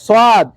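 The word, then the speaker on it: ص: ফাতহা কাসরা দম্মা আচ্ছা সোদ আমাদের অনেক ভাইয়েরা আবার সোয়াদকে সিনের মত উচ্চারণ করে সোদ সদটি হলো মোটা সিন হলো চিকন সদ আমাদের কোন ভাই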